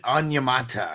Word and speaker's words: Onyemata: I can't pronounce his name. It was one of them guys. It's David Onyemata.